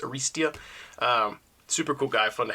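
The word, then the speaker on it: Arrastia: I feel like I've been saying his name wrong. I've been saying Arista, but I think it's Aristia.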